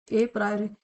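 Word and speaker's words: a priori: इसके और भी नाम होते हैं जैसे analytical method, abstract method, अप्रायोरी method, PRIORI, ये स्पेलिंग है, ठीक है। ये कंप्लीट इतनी, ए प्रायोरी, ये इसका नाम है।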